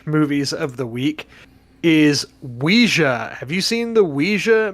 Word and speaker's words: Ouija: it is what it's Ouiji are you one of the people that say Ouija no it's it's not Ouiji it's Ouija no one says Ouija